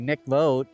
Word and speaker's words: mikvot: around 48 mikvah or the correct way to say it would be Mikvot in Hebrew.